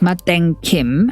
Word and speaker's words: Matin Kim: In Korean, the brand is pronounced Maden Kim and is often noted to be a little